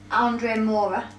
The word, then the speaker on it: Andre Moura: Andre Moura, am I pronouncing that name right? Yeah, correct.